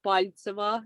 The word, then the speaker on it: Peltseva: I typically just put the stress on the first half, Peltseva, because originally it sounds as Paltseva. That's the authentic pronunciation.